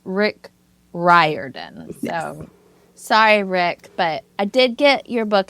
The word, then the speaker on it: Riordan: have to tell you his name is Rick ryen yes that's how you pronounce it I'm a librarian and I've been